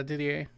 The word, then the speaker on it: Didier: from Samwise some ways Didier is that how you say it yeah Didier and they are are